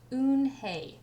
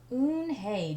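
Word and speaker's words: 은혜: Kim and then turned to Joey, and she nodded slowly and said, "Yes, it's pronounced Eunhye. And it means grace," Mr. Kim added. "Eunhye," Joey said, smiling, and this time he said it perfectly, and it made Eunhye smile.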